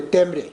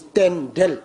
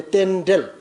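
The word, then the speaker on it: རྟེན་འབྲེལ: Local language pronunciation, we used to say temre, but actually it's tendel. Patitu samopat in Sanskrit. In our language, we say tendel.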